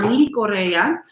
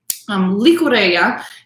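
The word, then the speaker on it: Llicorella: it their Icorea, or Licorea. It's double L. So I assume in that area, the double L is pronounced with a Y sound, but in all different parts of Spain, you have different pronunciations.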